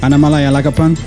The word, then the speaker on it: Annamalai Alagappan: Annamalai Alagappan, welcome to Melding Muse podcast.